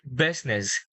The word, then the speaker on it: business: Business.